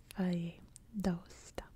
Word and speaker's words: Valle d'Aosta: And as you can see here in Italy, it's pronounced Valle d'Aosta.